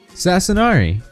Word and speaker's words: Sasanari: Hey, it's me, Sasanari. There you go. That's how you say it, in case any of you were wondering. That's how you pronounce the name. It's basically pronounced exactly like it's spelled.